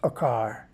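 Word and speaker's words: עקר: I should say and in Hebrew it's pronounced akar that word is talking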